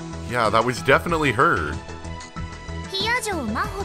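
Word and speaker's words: 比屋定真帆: Hiyajo Maho って読むの。私の名前、Hiyajo Maho。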